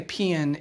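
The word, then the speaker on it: paean: of one of the gods but today a pn is just means and that's spelled p-a-e-a-n is just a poem of high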